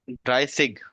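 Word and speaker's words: dreißig: ही pronunciation देखनी पड़ेगी beta की ये देखो बीटा की जो प्रोनाउंसिएशन है ना वो एस है एस अच्छा ड्राई सिग हां ड्राई सिग या फिर ड्राई दोनों ठीक है ओके अच्छा फिर 37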